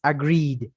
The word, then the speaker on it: agreed: De hecho, la pronunciación es agreed. Id. Entonces, no es, en este caso, como es una I larga, pues ahí ya está.